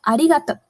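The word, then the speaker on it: ありがとう: So arigato, arigato. Pay attention to this ri. It is somewhere between the English alphabet R and D. Ri, ri. Arigato, arigato.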